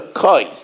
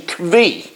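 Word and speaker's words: כוי: Usually people call it a koi. But there is another pronunciation, kvi. Most people say it as a koi, and that's the way I've been pronouncing it all the years, but some pronounce it as a kvi.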